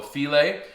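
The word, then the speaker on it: filé: Now I've also got 1 tablespoon of gumbo filet, and it's spelled like file, right, with an accent on the E at the end.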